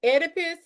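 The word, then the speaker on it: Oedipus: exam is the um edipus. I know it starts with the O, but the O is silent.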